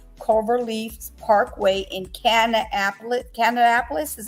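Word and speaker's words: Kannapolis: Friday at the hotel on on cover Leaf's Parkway in canap Canapolis is how you say it according to the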